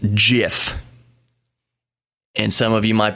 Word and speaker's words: GIF: me tell you why it is not the G as in giraffe if it was giraffe